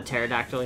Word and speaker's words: pterodactyl: the peridot Oh gotcha the pterodactyl you mean yeah but it's the silent P like you gotta give